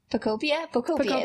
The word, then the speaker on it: Pokopia: Pokopia?